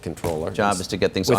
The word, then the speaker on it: comptroller: with Administration policy do you like controller or com controller I I like controller I like controller but